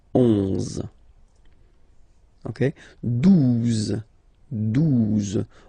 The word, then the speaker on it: douze: Okay, douze, douze. O, U, the two together will give you the sound OO. Okay, and then Z, douze, douze.